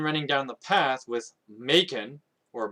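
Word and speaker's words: Maken: with Macon, or Makin, it's spelled M-A-K-E-N. I've always pronounced it Macon, but a friend of mine tried to correct me and say it's pronounced Makin. But you can decide how this name is pronounced.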